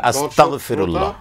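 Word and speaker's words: أستغفر الله: এই বিষয়টি আমরা কিন্তু লক্ষ্য রাখি না, সম্মানিত গ দিয়ে হবে আস্তাগফিরুল্লাহ, জি আস্তাগফিরুল্লাহ গ দিয়ে উচ্চারণ করতে হবে। এখানে অনেকেরই ক হয়ে যায়, মানে গাইন হবে, গাইন আস্তাগফিরুল্লাহ, গাইন যেহেতু কাপ যেন না হয় বসতে সমস্যা হতে পারে, আমি এই জন্য গ বলে দিলাম, জি গ যেন হয়, আরবি যারা বোঝেন গাইন যেন হয়, কোনো অবস্থায় যেন কাপ অথবা ক না হয়ে যায়।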